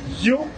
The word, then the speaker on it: HU: mantra, son sacré, You, qui écrit H-U, mais qui prononce You, m'a propose, m'a tourné tout à l'heure.